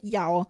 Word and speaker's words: Yao: The soon character I saw in the hail mar grass is pronounced yao.